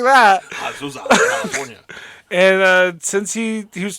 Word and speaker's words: Azusa: Azusa. Don't say it like that. Azusa, California.